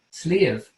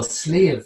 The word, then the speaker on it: Sliabh: good farmland and so sleeve then the word slave and you pronounce it like like almost like sleeve of your shirt sleeve that means mountain in